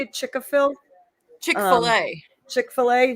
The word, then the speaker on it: Chick-fil-A: Chick-fil-A.